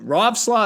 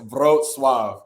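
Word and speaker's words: Wrocław: pronounce it so the the W is a v in Polish and then the L with the line through it makes a w sound so it's it's brought Suave yeah it's man polish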